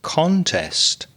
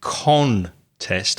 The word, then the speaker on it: contest: is to contest something notice i didn't say con test i said kun kun because when you're stressing the second syllable the first syllable becomes weak contest she wanted more